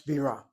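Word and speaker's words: בירה: That's bira, where the accent on the first syllable is beer.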